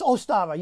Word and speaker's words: Ostara: It's Ostara.